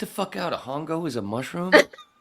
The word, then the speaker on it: hongo: __ ] out a hongo is a mushroom it's it's Ono H is silent h is silent in Spanish but it goes along